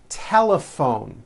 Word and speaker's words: telephone: notice the gh combination in that word laughs telephone notice the pH combination in that word is also pronounced as an F telephone it's the same